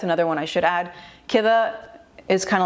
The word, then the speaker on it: كذا: Or I've heard some dialects, they say chida, chidi means kida, yeah, because the ka they pronounce as a cha.